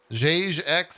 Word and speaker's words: Jagex: Is it Jagex, Jagex, Jagex? How do you say this? Everyone in chat's just saying yes. So I think they're answering the first. It's like you're saying Jagoff. It's Jagex.